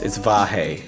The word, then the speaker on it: Vahe: It's Vahe, so it's 2 syllables.